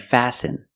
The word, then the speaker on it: fasten: fasten your seat belt fasten is a verb and the t is silent you need to fasten